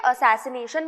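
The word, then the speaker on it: assassination: Word use करेंगे और कोई दूसरे तरीके का प्रोनाउंसिएशन हमें नहीं करना है, ठीक है। असैसिनेशन बोलना है और असैसिनेशन किसके लिए यूज किया जाएगा, कोई इंपॉर्टेंट पर्सनालिटी की मर्डर के लिए, ठीक है।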